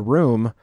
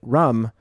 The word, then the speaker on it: room: was talking about a room, but he pronounced it rum because he is from here. So that is, and I said to him, Henry, it's pronounced room.